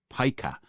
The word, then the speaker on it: pica: Pica. I think it's spelt Pica, but it's pronounced pica.